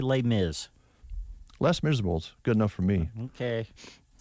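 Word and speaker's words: Les Misérables: actress as uh in less miserables you mean les miserables no less miserable okay that too yes that's exactly the way it reads oh okay you know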